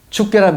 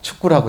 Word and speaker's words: 축괴: 그러면 축괴란 말이 잘 되느냐 경상도 사람들이. 안 돼요. 그러니까 축구라고 했다고.